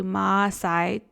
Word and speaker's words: Maasai: my visit with the Maasai. For years, I called it Maasai. On our trip, we learned that it's actually Maasai with 2 A's.